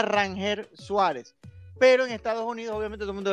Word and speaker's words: Ranger Suárez: Si es Ranger. Entonces él me Rainer. comentó, no, es Rangel. O sea, cuando él lo Rainer. presentaron, era Rangel Suárez.